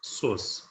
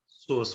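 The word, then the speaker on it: psoas: पी से start होता है ये, इसको जब लिखते हैं पी इसमें साइलेंट रहता है, पी एस ओ ए एस, सोस, इसको बोलते हैं सोस मसल।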